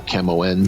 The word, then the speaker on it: Camões: I always mispronounce it. It's Camões or Camoens.